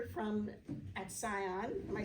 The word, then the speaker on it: Atsion: started working at Atsion, my mom would always pronounce it Atsion, and I would do the same until I started working there. And then I started calling it Atsion in front of my mom, and she got very upset with me because I committed treason or something for pronouncing it wrong.